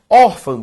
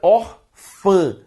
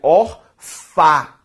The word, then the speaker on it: órfã: Órfã, pessoal, ao ser separado, primeiro, na separação silábica de órfã, órfã. Segundo, órfã, gente, é uma palavra que tem como sílaba tônica or, tudo bem?